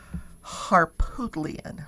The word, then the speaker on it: Harpootlian: His name is Dick Harpootlian. Harpootlian? Harpootlian.